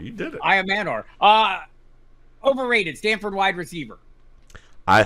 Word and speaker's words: Elic Ayomanor: Elic Ayomanor. Can I say it right? You did. Ayomanor. You did it. Ayomanor.